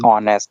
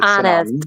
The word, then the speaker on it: honest: the correct pronunciation is honest the h is silent It's honest.